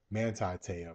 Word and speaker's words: Manti Te'o: Manti Teo, that's how you pronounce his name.